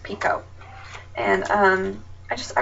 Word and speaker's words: Picoult: that information out there her last name is pronounced Pico and um I just